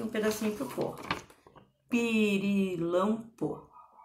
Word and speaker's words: pirilampo: Pirilampo. O que parece que é a sílaba tônica? Pirilampo. Pirilampo. Pirilampo. Tô gritando, tô chamando ele. Pirilampo. É o lam, né?